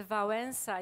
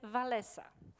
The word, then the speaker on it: Wałęsa: wszystkim to coś mówi bo dla nas pan prezydent Wałęsa jest Wałęsa ale niestety albo stety zagranicą wszyscy nawet w rozmowach takich które ja miałam przyjemność prowadzić wymawiają nazwisko jakby nie znając naszych polskich liter walesa i wszyscy znają naszego byłego prezydenta pod nazwiskiem walesa stąd jakby nazwa centrali